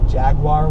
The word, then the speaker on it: Jaguar: who mispronounce car brands I say Jaguar instead of Jagua and people act like